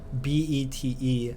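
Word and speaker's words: bête: rate let's see if b-e-t-e has the circumflex or the carrot or whatever and that's pronounced bet this would be a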